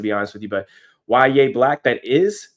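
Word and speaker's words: Yahya Black: But Ya Black, that is how you pronounce his name.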